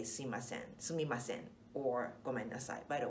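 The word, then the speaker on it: すみません: So sumimasen is definitely the right way to say it, but often we kind of slide into suimasen. So mi becomes i, suimasen.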